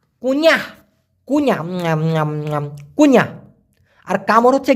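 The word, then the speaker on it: kunyah: এন ওয়াই এ এইচ উচ্চারণটা হবে কুন ই আহ কুনিহ কুইনা কুইনা আর কামড়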